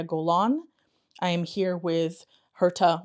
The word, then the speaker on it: Herta: I'm here with Herta.